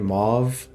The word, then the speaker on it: mauve: have I been here it's pronounced move in other areas okay one of those